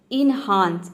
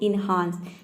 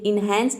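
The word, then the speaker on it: enhance: word number 13 है एनहांस इसको हम प्रोनाउंस करते हैं एनहांस कई स्टूडेंट्स इसको बोलते हैं एनहांस य एनहांस नहीं होता है यह होता है एनहांस तो देखिए यहां पे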